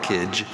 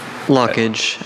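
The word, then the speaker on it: lochage: lockage.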